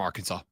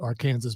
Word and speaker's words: Arkansas: in my head always thought AR Kansas by the way even before you and uh isn't that where that came from when when the when the states were established I thought that I believe it was that was originally how it was said and then it metamorphosized into Arkansas I I heard some